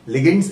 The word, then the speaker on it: ligands: Okay, लिगेंड्स, LIGANDS. नहीं, जो सोच रहा हो बिल्कुल मत प्रोनाउंस करना.